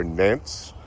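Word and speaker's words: Nantes: These are Nant's carrots, or Nant carrots. I was watching Hollis and Nancy's homestead today, and that's how they pronounce the carrot. They said the S is silent on it, so that's what I've saved.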